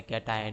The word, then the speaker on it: कैटायन: Pronunciation ढंग से देख लेना, क्या होता है कैटायन। नहीं तो बोलेंगे, बोलोगे आप कि CTION तो हम शन बोलते हैं, लाइक ट्रांजिशन, है ना।